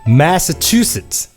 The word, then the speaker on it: Massachusetts: 자, 그러면 그 다음 단계는 이제 그 강세 위주로 그 음절들을 붙여주시면 되는 거예요. 자, 그러면 앞에 두 음절을 붙이시면 mess 해서 mess 이런 식으로 소리가 나고, 자, 그 다음은 chew랑 sit랑 붙여주면 chew sit 이런 식으로 발음이 된다라는 겁니다. 붙여서. 그래서 마지막에 그거를 다 한꺼번에 붙여주시면 Massachusetts 이렇게 되는 거죠.